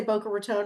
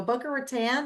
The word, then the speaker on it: Boca Raton: You pronounced it right. Thank you, ma'am. It's because people never say Boca Raton, right? They go Boca Ratan.